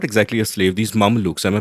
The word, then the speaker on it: Mameluke: So she gets rid of the son and then she marries, her head slave, or not exactly a slave, these Mamelukes. Am I pronouncing that right?